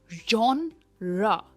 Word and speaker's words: genre: इसकी प्रोनाउंसिएशन है जॉनरा, जॉनरा, और जो स्ट्रेस है वो जॉन पे आता है, जॉनरा।